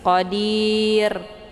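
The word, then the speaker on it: قدير: hurufnya adalah ya maka ro ini dibunyikan secara tipis Q jangan qir itu bacaan yang salah tapi tipis Qadir bunyi rnya tipis cara bacanya posisi pangkal lidahnya tidak terangkat ke langit ya qir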